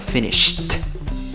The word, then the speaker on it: finished: Pero si le agregas cd, entonces tienes que pronunciarlo finished. Finished. ¿Ok? Exagerando un poquito. ¿Ok? Solo para demostrar. Quiere decir que al sh le sigue la t.